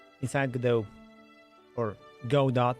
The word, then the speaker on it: Godot: inside the do or go dot as I figured that it's more properly pronounce that way um I will have